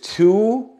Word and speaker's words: two: but the long sound of the O is o o but we hear the long u sound with two we hear two two two not no two so it is a